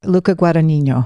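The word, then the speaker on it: Luca Guadagnino: And the director of the reimagining, how do you pronounce his name? Luca Guanino.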